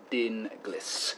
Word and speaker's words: Dinglis: you pronounce it he said the name is pronounced Dean Gliss there's Cypriot family after all thanks and evening